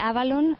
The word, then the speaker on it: Avalon: Sí, la expresión exacta, la pronunciación exacta sería algo como la V en F, la que utilizan allí. Se parece más a F que a V. El Avalon nuestro es más Avalon